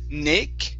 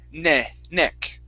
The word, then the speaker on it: neck: Now, this is going to be a short E sound instead of Nick, okay, with a E sound. It's E, ne, neck.